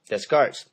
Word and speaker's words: Descartes: Copernicus, Galileo, Descartes. Descartes. Descartes. I know it's spelled Descartes.